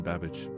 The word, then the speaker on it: Babbage: Anne Babbage, house manager. Scrotum indeed. How you doing, Cosmic? 100 well spent? Rhymes with cabbage.